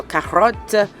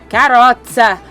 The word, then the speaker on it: carotte: Excuse my unnecessary accent, but I'm assuming that's how you say it. It's carrot with one less R and an E at the end. So carotte, carotte.